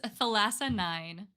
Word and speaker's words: Thalassanine: it's Thalassanine. Thalassanine, okay, 'cause thalassophobia.